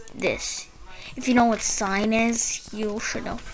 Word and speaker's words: sin: It's spelled s i n, but it's pronounced sign.